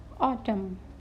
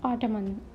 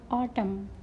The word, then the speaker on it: autumn: now see the words n is silent here autumn what is autumn not ottoman autumn next is condemn foreign